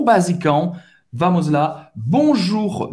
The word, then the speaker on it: bonjour: O R no final você vai ter que pronunciar. O U em francês tem o som da letra U em português. Então é simples. Vamos lá. Bonjour. Só trabalhar esse R no final da palavra.